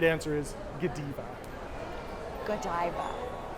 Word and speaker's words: Godiva: Comment below how you would pronounce it. The right answer is Godiva.